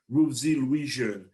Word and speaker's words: Ruthzee Louijeune: and advocate and city councilor at large candidate rubesy louisian thank you for joining us today rosie thank